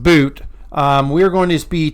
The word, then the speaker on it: Bout: anyways Brittany Greiner and Victor boot it's pronounced boot um we're going to